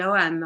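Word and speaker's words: ogham: about the OM um it's pronounced differently according from uh where you are but the OM or o g h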